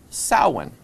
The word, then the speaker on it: Samhain: His name was Samhain. Hey, Mr. Hain. No, it's actually, it's a Gaelic word, and it's pronounced Samhain.